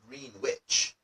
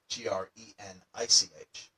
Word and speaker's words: Greenwich: it should be pronounced Greenwich, but it's actually spelled Greenwich, almost like it was spelled Greenich.